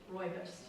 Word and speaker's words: rooibos: Today we tried, I don't know the correct pronunciation, rooibos?